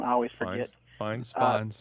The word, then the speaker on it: Fiennes: Brolin, Tilda Swinton, Ralph Fiennes, or however you pronounce his name. I always forget. Fiennes. Fine, Yeah.